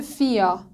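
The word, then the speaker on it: vier: اگه آخر لغاتی به ایق ختم بشه ما به صورت آ تلفظ میکنیم، مثل فیا. نگاه کنید ایق آخر لغت هستش، فیا به معنای چهار، آ خونده شد.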